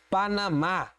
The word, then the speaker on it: Panamá: Próxima palavra, Panamá. Panamá. Opa, oxítona terminada em A. Todas as oxítonas terminadas em A recebem acento.